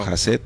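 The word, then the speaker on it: חסד: Pero jaset también significa misericordia. Se pronuncia jas. Jaset.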